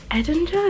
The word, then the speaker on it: Edinger: by uh Evan Eder Edinger is how you say his name it was really interesting